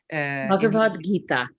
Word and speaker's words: Bhagavad Gita: Bhagavad Gita. Sorry, I'm messing you up. Bhagavad Gita.